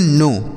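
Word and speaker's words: know: इसे हम पढ़ते हैं नो के एन ओ डब् नो यहां पर के से लिखा गया लेकिन इस के को नहीं पढ़ा जाता है यह के साइलेंट होता है तो नो का अर्थ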